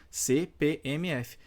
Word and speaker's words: CPMF: mantenho essas letras maiúsculas cpmf vejam que eu pronuncio uma letra isolada da outra então a despeito de ter quatro letras eu continuo pronunciando uma após a outra e existem casos aí